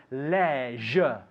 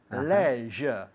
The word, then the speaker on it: leisure: Now, we have two different pronunciations here. Yeah. In England, we say leisure. Leisure. In Estados Unidos, dicen leisure. Leisure.